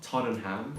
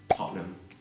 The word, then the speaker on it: Tottenham: And it's not Tottenham, it's Tottenham.